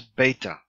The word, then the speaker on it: beta: ah as in father the second is beta beta perhaps B as in book gamma or gamma a